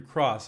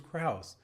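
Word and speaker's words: Krause: got it right sometimes people say my name is andrew cross i know it was kraus but so you you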